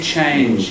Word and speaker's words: change: The stronger ch rather than change.